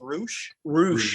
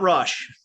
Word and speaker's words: Roosh: i went to pronounce it is pronounced roosh yup not rush great canadian band how